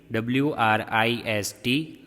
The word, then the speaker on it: wrist: This is called wrist joint. Here W is silent. What is the spelling? WRIST, wrist, JOINT joint.